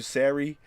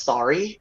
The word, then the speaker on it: Sarey: they see my name they think it's pronounced sorry and then when I connect uh when I correct them and I'm like it's Siri they'll be like oh